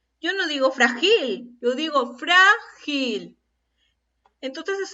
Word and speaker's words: frágil: Escuchen la pronunciación. Frágil. Yo no digo frágil, yo digo frágil.